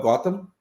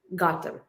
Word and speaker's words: Gautam: much for having me your last name for me uh it's gotham gotham okay it's super important to